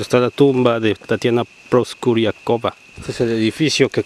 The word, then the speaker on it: Proskuryakova: Estamos hasta arriba de la Acrópolis, estructura J23, el lugar que protege ahora las cenizas de Tatiana Proskuryakova, o Proskuryakova como se pronuncia correctamente, desde 1998.